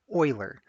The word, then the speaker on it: Euler: name here this looks like Euler but it's pronounced Euler Euler was a Swiss mathematician living in the